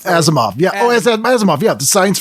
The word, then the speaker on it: Asimov: Alf is moody, because I can't pronounce the author's name. Asimov? Asimov, yeah.